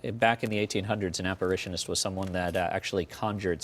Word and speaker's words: apparitionist: Yeah, it's an apparitionist.